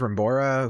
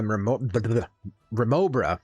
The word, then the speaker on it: Remobra: You scold those Rembora who pilfered my paw print PETA yet? I sure did. You've sorted out my Remobra. That's how it should be pronounced.